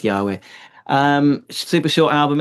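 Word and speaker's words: YHWH: Um, it's written like this, Y HWH, but it's pronounced Yahweh.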